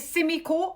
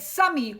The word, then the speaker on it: Simiko: My name is Simiko, like Jimmy, but with an S. And for some reason, 50% of the time people pronounce it wrong. I usually get Sammy or Semi, and that drives me up the nuts.